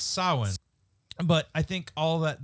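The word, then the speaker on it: Samhain: or whatever like and they talk about Sam Hayne and all that and trying to start doing how it's pronounced by the way right it's it's sowing but I think all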